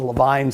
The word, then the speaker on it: Levine: would call it the Levine sign but they pronounce their name the Levine sign so this is the Levine sign he was one of the pioneer cardiologists